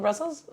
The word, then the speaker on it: Brussel: the flamish name for Brussels Brussel that's the flamish name it's just like uh in English but without the S on the end okay Brussel and then